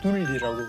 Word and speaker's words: 둘리: 예, 그래서 그 둘이라고 하면 좀 너무 또 약간 발음이 또 좀, 네, 둘이가 좀, 네. 그래서 둘리라고. 둘리라고.